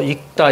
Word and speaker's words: 읽다: 익다. 이렇게 발음하셔야 돼요.